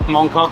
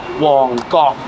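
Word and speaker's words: Mong Kok: Mongkok is the district just north of Yalmate, where the Lengting Gym was, where we had our tour on Monday. It's actually not pronounced Mongkok in Cantonese, it's pronounced Wongkok.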